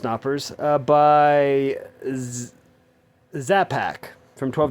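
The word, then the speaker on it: Knoppers: I think it's pronounced Knappers.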